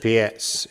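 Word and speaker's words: Pirc: I'm not sure how you pronounce Pert, but Pietz, is it? Pietz, exactly.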